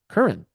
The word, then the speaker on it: Curran: And I could say, hello, my name is Curran, and you pronounce it Curran.